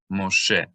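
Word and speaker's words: משה: When the mem comes immediately before the Shin, this dot will sometimes serve another purpose, two purposes. So it both makes the Shin a Shin instead of a Sin, and it also functions as a Holam vowel, which makes an O sound. So Mo, and then the Shin, She. Shin plus Segol is E, Moshe.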